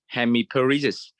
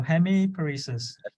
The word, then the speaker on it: hemiparesis: so Hemi please yeah give it a try hemiparesis good yeah perfect yeah just slow down okay yeah so hemiparesis yeah all right let's go for the next